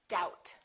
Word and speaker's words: doubt: Settle and doubt.